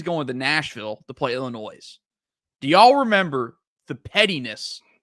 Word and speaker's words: Illinois: The S is silent Illinois.